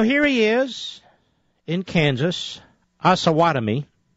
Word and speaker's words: Osawatomie: So here he is in Kansas, Osawatomie. I know that's how you pronounce it because somebody told me.